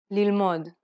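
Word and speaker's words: ללמוד: Correcting this is very easy because most Hebrew words are stressed on the last syllable. Pay attention to the stress pattern in the following Hebrew words. Bgadim, yalda, lilmod.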